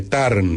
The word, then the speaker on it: Tarn: libro de alejandro magno the turn se escribe tea rn es un libro muy